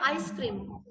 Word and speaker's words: ice cream: अगर हम फुली देखें तो ये आइस्ड क्रीम होगा, मीन्स ठंडा किया हुआ क्रीम, है ना? बट हम इसके प्रोनाउंसिएशन को एलिसन करके यूज कर रहे हैं, आइसक्रीम। अंडरस्टूड? यहाँ पे डी को इलिट किया गया है।